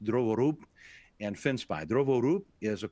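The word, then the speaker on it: Drovorub: root kit boot kit hacking tool kits are drovo rub and fence pie or actually correctly pronounced druvorup and fenspy drovorup is of course developed by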